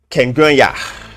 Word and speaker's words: Kengwenya: How should I pronounce it? Kengwenya. Kengwenya, my brother. My brother Kengwenya. Did I pronounce it correctly this time around?